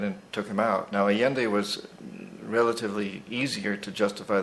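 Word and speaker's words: Allende: yeah Foul Play so let's move on to aende is that the pronunciation mhm yeah well yende again President of Chile and um aende went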